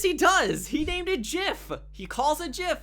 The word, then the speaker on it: GIF: does he named it jiff he calls a jiff he says it's pronounced jiff I did not know